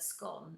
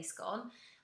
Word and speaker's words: scone: Also, actually, how you pronounce the word scone is quite controversial. As you can clearly hear, I say scone, other people say scone.